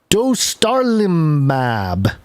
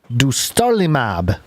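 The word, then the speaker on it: dostarlimab: i'll do my best dostar limab du starlimab d-o-s-t-a-r-l-i-m-a-b kind of like do star lima b i don't know okay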